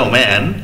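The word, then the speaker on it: woman: ওম্যান what did দা ওম্যান দেখো উচ্চারণ কিন্তু ওম্যান হবে দেখো এম ই এন থাকলে উচ্চারণ উইমেন হতো যেহেতু সিঙ্গুলার আছে উচ্চারণ হবে ওম্যান ঠিক আছে হোয়াট ডিড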